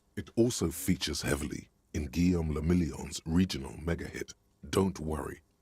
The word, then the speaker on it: Guillaume le Million: Guillaume le Million. What? If it doesn't rhyme, you're not pronouncing it right.